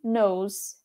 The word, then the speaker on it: eye: vai mais esquecer que o olho se pronuncia ai porque se eu botar